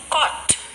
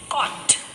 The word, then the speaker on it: caught: read another word caught here we can hear the sound of ka that is of that is the sound of letter c or and so the sounds of letter g and h are silent so the word is caught caught daughter daughter fight